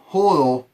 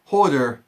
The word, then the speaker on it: Hodor: wolf is helping out and right now whole Hodel holder Hodor Hodor dammit you say his name right I